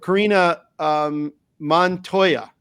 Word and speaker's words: Karina Montoya: Karina Montoya is the pronunciation, correct?